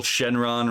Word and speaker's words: Shenron: A literal Shenron, right? Like Shen, you know, divine, and then Ron, you know, pronunciation, the Japanese pronunciation of the Chinese long, meaning dragon, right?